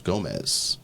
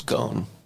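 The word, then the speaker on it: Ghosn: executive known as Carlos Gomez. Donald Carlos go. Oh, go. Yeah. Go. It's It's There's some silent letters in there, but Go.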